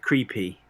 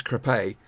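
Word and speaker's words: Crépy: I just want to say that Crawley is twinned with the town of Creepy. It's true. It is. Creepy and Island. That's not quite how they pronounce it. It's Crepe.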